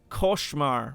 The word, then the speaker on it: Koshmar: Koshmar rhymes with scar. Koshmar. So scar, Koshmar. Okay, that's how you say it.